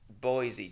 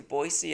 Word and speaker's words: Boise: at uh a place in Boise Ido which is how they say it by the way they don't say Boise which is really stupid